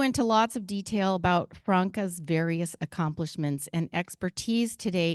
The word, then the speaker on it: Franca: I've been saying Franca and been corrected to say that it's Franca. And she told me just before now that it's Franca, everyone.